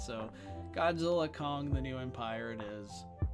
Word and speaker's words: Godzilla x Kong: I've been calling it Godzilla X gong the new Empire but I guess the x is silent so Godzilla Kong the new Empire it